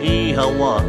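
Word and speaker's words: Oíche mhaith: When you leave her home and she holds you tight, ee-ha-wa is how you say goodnight.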